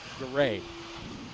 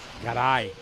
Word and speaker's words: Garay: It looks like Garay, but when he says it, it's Garay.